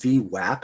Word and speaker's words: VWAP: volume weighted average price pronounced vwap as an a as an apple not o as an opportunity is comprised of three